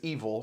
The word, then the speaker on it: Evel: His nickname is Evil, spelled like Evil Knievel, Evel. Oof. However, phonetically, it sounds like Evil Dick, which is way funny.